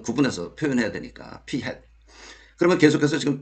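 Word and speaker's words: p̂: 요거는 P 햇이라고 읽습니다. 모자를 씌웠어. 여기다가 이거 이제 좀 구분해서 표현해야 되니까 P 햇.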